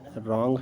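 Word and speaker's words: wrong: आर के बाद डब्लू आया है तो भी हमारा वो साइलेंट होगा। ठीक है, तो यहाँ पर हो गया रैपर है, रॉन्ग है।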